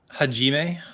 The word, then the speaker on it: Hajime: Hajime.